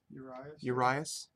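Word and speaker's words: Urías: Urias.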